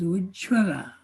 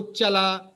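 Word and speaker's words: উচ্ছল: Now also that word Uchchala Jaladi Taranga, that Uchchala is many times pronounced as Ujjvala. Okay, Ujjvala or Uchchala, Yeah.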